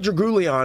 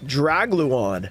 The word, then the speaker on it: Dragluon: you say this card it's not Dragon because there's no it's GL Dragluon this card's cool because